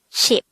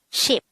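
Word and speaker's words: 십: the sign the korean version of number 10 is sheep and we should take note that numbers 1 to 10 is just composed of one syllable pronounce this again with me ship ship how do we spell ship in hangout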